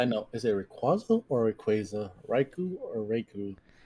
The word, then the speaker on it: Rayquaza: say raiku and then I say Rayquaza now because that's proper but I don't know who in the right mind or none of my kids are none of my friends rather but my friends weren't very smart um we all said Rick and quasa not what not Rayquaza wait how is it